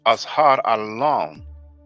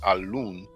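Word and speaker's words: أزهر اللون: And the path for rosy complexion is Azhar al-Lawn. I know some people may pronounce it al-Loon.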